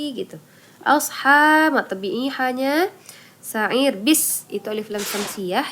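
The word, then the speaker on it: سعير: Ir cara baca rohnya adalah tarqi. Sa'ir gitu ya.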